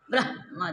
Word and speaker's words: ब्रह्मा: ठीक है तो वहां उच्चारण ब्रह्म ब्रह्मा तो उमा ब्रह्मा देखो थोड़ा यहां जोर पड़ता ब्रह्मा जिस तरह ह रहता आसानी से उच्चारण करते उस तरह नहीं होता हां ये सब अनुभव